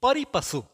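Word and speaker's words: pari passu: अब आते हैं परिपशु.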